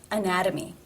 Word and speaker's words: anatomy: between two vowel sounds anatomy anatomy therefore it is the flap T sound or D anatomy and again the